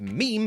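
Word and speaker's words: Mime: you would think would be mine but it's pronounced meme by everyone and he is the equivalent of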